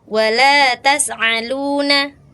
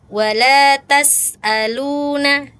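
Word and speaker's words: وَلَا تُسْأَلُونَ: Kemudian huruf hamzah tadi terdengar seperti ain tuh, Kak. Ada di ayat ayat berapa tadi ya? 141 dan ayat 134. Tadi kakak seperti ain kedengarannya ya. Saya mendengarnya seperti ain. Wala tas'aluna harusnya wala tas'aluna gitu ya.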